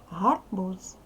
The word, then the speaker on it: гарбуз: вимовляється чітко далі дивимося гарбуз ми з вами вже писали це слово у нас з кінці треба вимовляти дзвінко далі хліб теж підходить